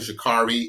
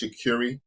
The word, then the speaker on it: Shakuri: Y'all don't even know her name is not even Shakari. It's Shakuri. Like it's spelled Shakari, but it's Shakuri, like curry.